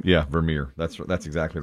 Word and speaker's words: Vermeer: Vermeer? That's right. Is that right? Yeah, Vermeer. That's exactly right. I looked at Johan. Dutch? Johan Vermeer.